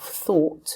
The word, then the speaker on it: though: to the spelling of thought it doesn't have a t in it the gh at the end is silent though and the same structure